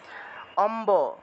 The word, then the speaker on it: অম্ব: আছে ওইভাবেই উচ্চারণ হবে যদিও ম এর নিচে বফলা আছে তবে সেই ক্ষেত্রে এটা ম এর নিচে বফলা থাকলে ম উচ্চারণ করা যাবে না ঠিক আছে ম এর নিচে বফলা থাকলে যেভাবে আছে ওইভাবে উচ্চারণ করতে হবে কারণ এটা একটা ব্যতিক্রমী